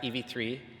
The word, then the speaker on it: EV3: We're coming to the end of a chapter, one that began arriving on campus, when we realized it's pronounced EV3, not Environment 3, and when we discovered the ESS coffee shop.